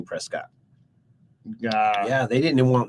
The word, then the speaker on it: Prescott: that everything is so in order for us to know that we are from press skit we will now pronounce it Prescott all right and I